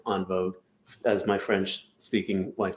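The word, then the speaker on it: en vogue: all one word gems n vogue which is pronounced on vogue as my french speaking wife tells me um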